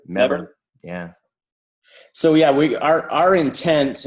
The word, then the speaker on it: Melbourne: Just make sure he doesn't hear you pronounce the L in that word. There's no L when they say it.